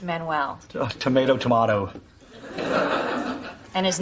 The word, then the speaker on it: Manuel: That's pronounced Manuel.